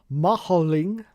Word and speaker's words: Madring: Mad Ring. There you go. That's what Shane's talking about. Here we are. Cool. That's That's so bright. That's so bright. Jesus. The Mad Ring. Spanish pronunciation. Maholing.